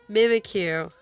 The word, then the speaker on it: Mimikyu: Mimikyu.